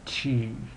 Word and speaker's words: tu: It's not simply like oo, but u. So, a little tip with making the sound, and this applies to going through the alphabet, which you did last week as well, is to make an E sound, like with a wide mouth, E, and while you're doing it, try to round your lips. So E, E, E. That's kind of how you get the sound.